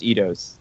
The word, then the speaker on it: Eidos: vowels go walking, the first one does the talking, and the second one stays behind. Okay, so it should be pronounced Eidos.